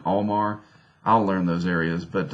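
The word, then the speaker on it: Altmar: do you call it almar a-l-t-m-a-r i think the t is silent omar i'll learn those areas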